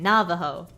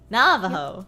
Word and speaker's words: Navajo: funsize you're fun ized emphasis on the first syllable in Navajo Navajo okay Navajo Navajo Navajo not that I hate